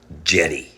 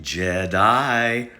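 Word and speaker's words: Djedi: magician are you ready his name was Jenny sometimes pronounced Jedi for all you Star Wars fans in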